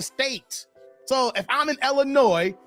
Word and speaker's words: Illinois: so long come on the S is silent Illinois Larry's like you mad